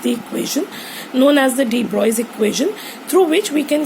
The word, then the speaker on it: de Broglie: Now, de Broglie, it is pronounced as de Broglie.